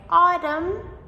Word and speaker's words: autumn: Number seven, the silent m. These words are a little bit longer. So, words like autumn, like the season of autumn, or column. So, both of these have the silent m.